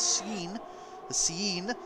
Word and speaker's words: CN: He wants us to pronounce it as Cien.